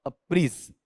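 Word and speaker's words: apprise: अप्राइज रहता है। ठीक है, हालांकि शुद्ध उच्चारण लूं तो शुद्ध उच्चारण इसका और ही अलग होगा, कौन सा? अप्रीज।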